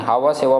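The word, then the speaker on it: Nhava Sheva: तो वो है नहावा सेवा पोर्ट। नहावा सेवा पोर्ट, ये याद रख सकते हैं, हवा सेवा पोर्ट बोल सकते हैं, एंड साइलेंट होगा, हवा सेवा पोर्ट। ओके, नेक्स्ट 30 नंबर देखिए।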